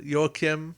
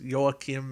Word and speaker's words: Joachim: you combo him with Joachim or Joachim, whichever way you want to Mm-hmm. pronounce. I know Ricardo Montalban said it is Joachim at least at one point in Wrath of Khan, but I have a